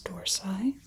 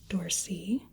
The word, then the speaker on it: dorsi: little lower this is the tmus dorsai ormus dorsy depends on if you go a little more English pronunciation versus The Original Latin dors or dorsi referring